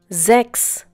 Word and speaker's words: sechs: We have already learned that whenever the letter S occurs at the beginning of a German word and is followed by a vowel, it is pronounced as if it were the English Z.